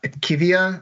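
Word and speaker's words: IQVIA: down 1.81% today but iqv or iqv uh aivia I guess is how you pronounce it they use AI to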